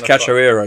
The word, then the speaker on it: Cachoeira: No, it's Cachoeira, yeah. A repeat on that, please. Cachoeira.